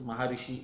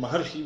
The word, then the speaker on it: Maharshi: Maharishi Vyasa, for the foreign listeners, Maharishi is what they understand better than Maharshi, which is the correct pronunciation of the word, who was son of